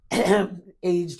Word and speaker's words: aged: And this is awful what I'm going to say as a aged woman. Aged in Give it the two syllable pronunciation.